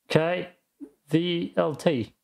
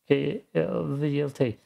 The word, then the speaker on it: KVLT: Damn, I'm gonna pronounce it in German, otherwise I would have tripped here. KVLT. KVLT.